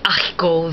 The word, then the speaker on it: haricots: But they also have an aspirate H, as in des haricots verts. Notice you still didn't hear the H, but what happened was you had DES, as you did in the first example, but the S did not align with the A of haricot. You had a glottal stop.